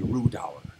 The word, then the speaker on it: Rhudaur: As we hear it is pronounced correctly, Rhudaur. That's the way Cate Blanchett pronounces it in the Hobbit movie.